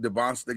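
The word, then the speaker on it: Dybantsa: I know you and Charlie are big DeBonsta guys.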